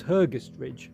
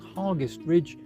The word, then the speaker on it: Hergest Ridge: I always thought it was Hergus Ridge, but apparently not. Apparently, it's called Harst Ridge to rhyme with hardest.